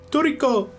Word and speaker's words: Trico: Trico, like the Pokemon again. Yeah. Okay. Well, that's not how the kid pronounces it. Is it Trico? No, he can't even... Toriko! Toriko! Okay. It's just like a Japanese person saying Trico.